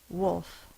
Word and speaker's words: wolf: is W LF wolf we do say the L Sound Wolf your tongue do does or should go up to make that l sound it's very quiet but it is there if you look it up in the dictionary it does have the L Sound should be said when we say wolf so you see the